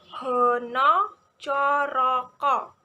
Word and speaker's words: hana caraka: Contohnya ada hono coroko. Penulisannya hana caraka, namun pengucapannya seperti huruf O.